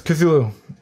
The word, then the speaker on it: Cthulhu: It's Cthulhu.